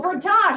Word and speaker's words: Bertok: And his last name is Bertok. Bertosh. Oh, Bertosh, see? Bertosh.